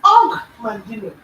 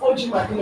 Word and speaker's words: Og Mandino: pronounced his name as Og Mandino. So it's not OG Mandino, it's Og Mandino. So the OG is actually a full word, right?